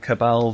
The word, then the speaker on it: Cabal: character on the list the cabal Vanguard that is how you pronounce it I looked it up